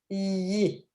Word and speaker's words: لدي: So la, da, that's how you pronounce it. لدي, double y.